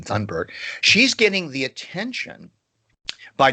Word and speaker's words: Thunberg: She says that Greta Thunberg, that's really how you pronounce her name, Thunberg, she's getting the attention by not getting attention.